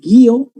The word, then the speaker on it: guío: Porque cambia el acento. ¿Te acuerdas que dije guío, guió? Tránsito, transito.